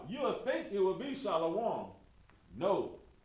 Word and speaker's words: shalom: Here it is so you can understand it and understand why it's a long O sound.